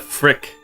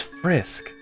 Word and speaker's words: Frisk: Oh, it's Frisk. Why did I think it was Frick? Frick. I don't know, Zach. But anyways, we should have named the character Frick or Frisk. 3 times I said it wrong.